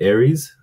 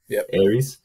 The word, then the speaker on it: Arius: apologists will talk about I think how to pronounce it, Aries. Aries. Arius.